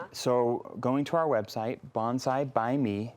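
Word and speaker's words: Bonsai Bai Me: So going to our website, Bonsai by Me. Now, by is spelled B-A-I, so it's Bonsai by Me, a little play on words Clever.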